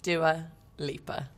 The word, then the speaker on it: Dua Lipa: long story cut short how is do a libra pronounced doer leaper it's quite easy although growing up i